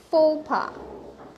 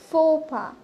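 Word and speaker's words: faux pas: সো the word here is ফোপা, ইটস ফোপা। সো ফোপা বলার পর এটা অ্যাকচুয়ালি একটা ফ্রেঞ্চ ওয়ার্ড।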